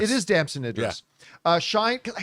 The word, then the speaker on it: Damson Idris: Brad Pitt and uh uh, how do you pronounce his name?" Damson Idris. It is Damson Idris.